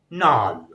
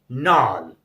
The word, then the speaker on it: gnarl: Now, next rule is G is also silent when it is coming before N. So here are certain words. You can see the first word with this rule is GNARL. GNARL, and its pronunciation is NAL. NAL.